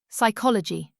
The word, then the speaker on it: psychology: Psychology psychology silent P.